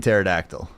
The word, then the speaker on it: pterodactyl: Like the P in pterodactyl.